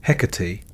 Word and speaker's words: Hecate: Her name pronounced Hecate carries with it a resonance of antiquity.